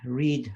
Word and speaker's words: read: that book every day so the read rhymes with heat and if you prefer to in the past we say we read that book yesterday and that ranked with head however the spelling is the same read for reading re 80